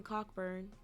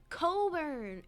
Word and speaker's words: Cockburn: besides anything's better than cockburn Coburn it's a traditional Scottish name it's got a Tartan in everything well I mean Bobby is Scottish so the way he was pronouncing it he probably should have pronounced it Coburn but we know Bobby